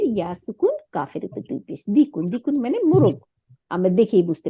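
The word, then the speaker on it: دِيكٌ: এর মধ্যে কি বলছে মা হাজা ইহা হাজা দিকুন দিকুন মানে মোরগ ইংলিশে বলে রুস্টার আপনারা ওখানে দেখবেন রুস্টার আর ও এস টি ই আর রুস্টার মোরগ তাহলে হাদা দিকুন ডাল জের ইয়াসুকুন কাফের দুই পেশ দিক দিকুন মানে মোরগ আমরা দেখেই বুঝতে পারতেছি এখানে আসি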